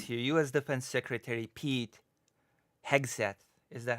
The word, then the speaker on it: Hegseth: Defense Secretary Pete Hegseth. Is that how I'm supposed to pronounce it? Yeah. Hegseth? That's it. Yes. Hegseth, that's yes.